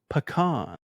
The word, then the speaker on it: pecan: The official American pronunciation is pecan. Pecan pecan pie.